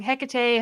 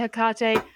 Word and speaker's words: Hecate: to pronounce her name i always get it wrong hecate hakate hikate feels weird now okay all the answers are acceptable for hecate you do that the